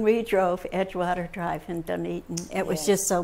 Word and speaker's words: Dunedin: We called it Dunedin, as many people did. Dunedin. And we learned quickly that it was Dunedin, but I know that feeling of Yes.